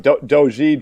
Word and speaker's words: doji: I have a decent D-O-J-I. vocabulary. Oh, original. Doji. It's the original crew, huh? How do you pronounce it, John? Doji, Jojai, Doji?